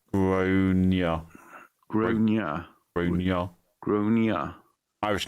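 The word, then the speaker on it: Gráinne: Generally pronounced Groania.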